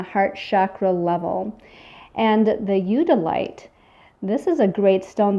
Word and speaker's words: eudialyte: And the black with the white specks, I'm going to try to pronounce this correctly, I believe is eudialyte. It's E-U-D-I-A-L-Y-T-E.